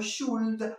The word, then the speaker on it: should: We should, no should, la L, te la comes, no la pronuncias.